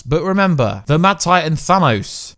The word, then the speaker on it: Thanos: But remember, the Mad Titan Thanos, or Thanos, the correct way to say it, is definitely coming.